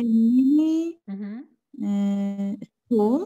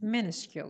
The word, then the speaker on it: minuscule: But only a mini school? No. Minuscule? No. Minuscule. You're close. Minuscule. Yes, minuscule. The stress is on the first syllable.